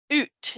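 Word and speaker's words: août: let's see that's august oot is how they pronounce it in french it's weird it's a-o-u-t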